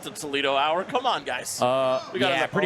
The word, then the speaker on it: Toledo: Pronounced Toledo. Toledo in Espanol. That sounds accurate.